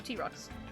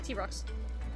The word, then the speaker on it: Trox: It's pronounced like T-Rex, but the rocks are pronounced like rocks. Oh, so T-Rocks. Right? Yeah, T-Rocks.